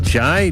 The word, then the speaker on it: Jai: How do you pronounce that? Jai J. You got it, Jai.